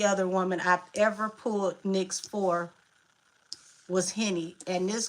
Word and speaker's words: Nyx: Nyx came out. Okay, you said you believe I pronounced it right?